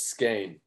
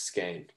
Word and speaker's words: Skahan: you pronounce it yeah so it's skein uh like you said which is kind of confusing because it's not at all what it looks like but yeah that's it's skein yeah no worries though